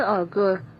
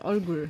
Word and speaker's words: 얼굴: 그 얼굴, 이 얼굴 완전 다르잖아.